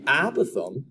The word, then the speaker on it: apothem: fancy new name and it is spelled a p o t h e m i'm going to say it is apothem but i've heard people put that emphasis in different parts of the word but the apothem is